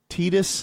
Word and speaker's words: Titus: Titus, that's spelled like Titus. We would say it in English.